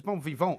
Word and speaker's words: bon vivant: Because bon vivant actually is the way you pronounce it.